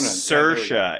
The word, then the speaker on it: Saoirse: Is like Saoirse Ronan. Saoirse. It's Sursha. That's how you pronounce it.